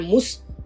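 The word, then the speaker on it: muss: मुस में उमलाउट नहीं है, इसलिए इसकी प्रोनाउंसिएशन हो रही है मुस, और इसमें कोई एंडिंग नहीं आती, ये होता है इश मुस।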